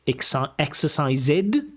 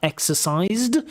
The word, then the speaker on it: exercised: So you know those ed endings like finishid uh uh finished exercisid uh uh exercised.